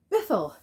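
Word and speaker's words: Bythell: But this is the So Far collection of books by Sean Bithell, which apparently is how you pronounce his name. Lately, I've heard his name pronounced Bithell, which, fine.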